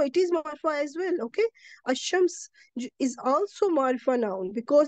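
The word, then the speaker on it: الشمس: Okay, but Lam is not, we will not pronounce it, we will skip it, we will drop it. We can say that we will not pronounce it, it will be the silent Lam, but it's still there.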